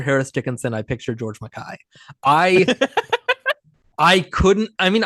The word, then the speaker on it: George MacKay: It's so weird how you're saying George McKay. No, it's Mackay. That's how it's Is it?